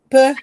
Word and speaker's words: peu: Pero él me quiso decir peu, que significa poco. ¿No? Me quiso decir, ay, es que estoy un poco cansado, pero me dijo pu.